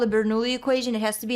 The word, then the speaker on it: Bernoulli: I think that's pronounced Bernoulli. Bernoulli equations.